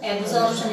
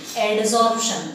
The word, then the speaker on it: adsorption: Now, adsorption word is said to be somewhat different. We have heard that the word commonly as absorption at what you call. Don't pronounce as it is absorption. It is said to be adsorption.